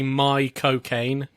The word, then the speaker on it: Caine: tip I heard of if you want to say his name in his accent say my cocaine my cocaine it's kind of how he says it my cocaine better yes